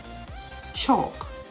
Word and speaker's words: chalk: calm c-a-l-n half h-a-l-f chalk c-h-a-l-k should s-h-o-u-l-t walk w-a-l-k the l in each of these words is silent silent and words autumn